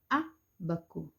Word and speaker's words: ábaco: um Ábaco Lembrando que toda palavra que tem acento sejam risquinho para a direita nós somos acento agudo do nosso pronunciamos a sílaba mais forte veja que o Eduardo fez em um Ábaco Ábaco Ábaco né desenhado